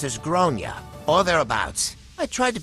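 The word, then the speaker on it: Gráinne: realized that the kid is called grain generally pronounced as gronia all thereabouts I tried to be very tful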